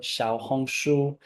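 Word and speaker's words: 小红书: more recently I've moved over to rednote or Shia hongu for your Chinese pronunciation so if you're interested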